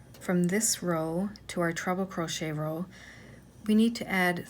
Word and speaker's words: treble crochet: For years I thought it was called a triple crochet, and I do hear people calling it a triple crochet, but the correct way to say it is treble crochet.